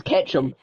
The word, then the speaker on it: Ketchum: For years, I thought his name was Ash Ketchup Ketchup. because of the way it was pronounced. Because of the way it was Catch pronounced, I up. always thought it was Ash Catch. Ketchup. So I was like, oh, Ash Ketchup, that makes sense. No, it's Ketchum. Ketchup.